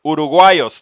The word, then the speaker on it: uruguayos: Uruguayos, that's how you say it.